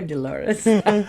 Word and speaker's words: Dolores: Hello, Dolores. Yeah, rhymes with clitoris.